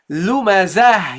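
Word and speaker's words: لُمَزَة: And the second one is the last letter of this ayah, and this means you stop on it. So you say lumazah, you pronounce it now as a ha.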